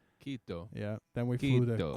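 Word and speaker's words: Quito: Kito, it's called Kito.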